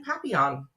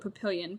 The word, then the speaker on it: Papillion: And that's how we ended up in Papillon. Which is funny because I used to live in a little town in Nebraska and we called it Papillion. But I mean, I know that's like the French pronunciation.